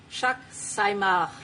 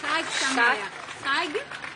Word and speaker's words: Chag Sameach: Thank you so much again, and Chag Sameach. It could be pronounced better. Chag Sameach. Chag Sameach.